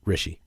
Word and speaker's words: Rishi: Seems like Rishi is with rhymes with fishy. Rishi.